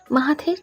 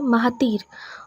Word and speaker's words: মাহাথির: অন্য সবাই উচ্চারণ করে মাহাতির, অথচ সে মাহাথির নামটিকে খানিকটা সময় নিয়ে বড্ড যত্ন করেই উচ্চারণ করে, মাহাথির। মাঝের আ কারটা হালকা শোনা যায়।